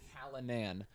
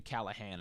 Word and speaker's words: Callinan: Callinan, which you expected to be Callahan or something.